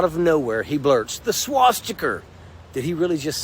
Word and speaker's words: swastika: First off, swastika, not swastika, but swastika. My guy, he can't even pronounce the hate symbol he's defending.